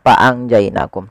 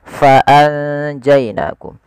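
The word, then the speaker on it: فأنجيناكم: Tapi sebelum itu ada huruf fa harus dibaca dengan fa pakai f jangan pakai p. Jangan faangjainakum tapi faanjainakum. Nah, cara membaca ikhfa ini di antara bacaan izhar dan idgam.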